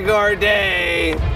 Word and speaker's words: Gourdet: Gregory Gourdet. He only which got... rhymes with gourmet.